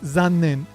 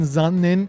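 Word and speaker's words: 残念: The only difference between these two examples is the Z sound in Zannen and the S sound in Sannen.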